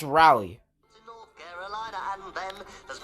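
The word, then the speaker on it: Raleigh: is not completely made out of ice it's pronounced rally North Carolina and then there's Madison Wisconsin and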